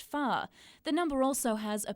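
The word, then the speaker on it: 发: ba, and sounds like the word for prosperity or wealth, which is pronounced fa.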